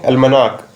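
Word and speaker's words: almanac: इसको हम प्रोनाउंस करेंगे अल्मनाक।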